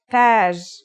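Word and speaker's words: تاج: Taj.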